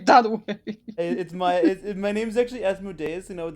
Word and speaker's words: Asmodeus: My name's actually Asmodeus, and I would like you to pronounce it correctly.